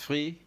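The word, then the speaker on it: trois: on to three how do you say it's free and French number three is excellent again let's verify twice right is the right pronunciation and of course it is written t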